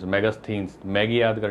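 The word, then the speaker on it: Megasthenes: spelling बड़ी जटिल है आप बोलने में जैसे आप कर सकते हो मैगस थिनस मैगस थिनस मैगी याद कर लो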